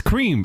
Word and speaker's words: Kreme: here at the top the creme as they say the k r m it's cream it's cream it is cre I just whatever they spell it like that cuz they could have done k r e a m that would have been cream to me that is the name